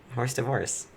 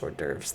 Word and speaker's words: hors d'oeuvres: wrong with horse divorce horse divorce i was so mad when i found out it was pronounced hors d'oeuvres like what the [